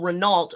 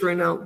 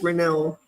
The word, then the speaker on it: Renault: Yeah, we pronounce it in English Renault, but I believe it's Renault.